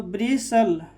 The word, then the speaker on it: bristle: ब्रिस्ट, या BRISTLE, तो T क्या हो जाएगा, साइलेंट, तो ब्रिसल, ब्रिसल, यहाँ पर बूसल, कासल, ठीक है।